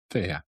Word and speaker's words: Fiadh: Thea. Thea. It looks like Fiat, but it's a silent D.